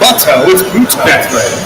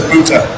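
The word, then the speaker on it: Butto: mount versus jose vuto it's not butthole we were kind of going over how to pronounce his name and luckily we were told that it was bhuta so i feel honored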